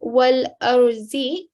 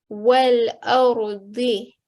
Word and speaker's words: والأرض: So rather than saying wal arzi, try to say wal ardi.